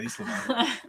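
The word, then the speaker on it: ysalamiri: Spell it for me and I'll tell you how to pronounce it. Islamar. Yeah, Islamar.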